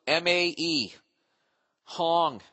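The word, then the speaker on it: Mae Hong Son: Thailand for not the mayong son Loop Mae Hong as in Hong Kong h o n g son s o n luk poop by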